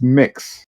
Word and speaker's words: Mx: a pre-existing thing um and it's pronounced mix um and it's originally